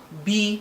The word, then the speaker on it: b: Nke abụọ bụ B. A na-akpọ ya B, like the insect B that gives honey. So it's written as B, pronounced as B-double-E.